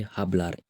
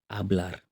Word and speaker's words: hablar: Don't forget, the H is silent. We don't say hablar, we say hablar.